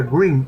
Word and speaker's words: Gruene: Groom, un apellido alemán que se pronuncia Green en inglés, es ahora un distrito